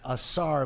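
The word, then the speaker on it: Ausar: with the re-addition of Astar Thompson. Yes, he is. He certainly is. And if you forget how to pronounce his first name, it is Asar, like a star.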